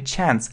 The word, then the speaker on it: chance: Это шанс, если British pronunciation, британское произношение chance, или chance, American pronunciation, американское. So, it's a very good chance.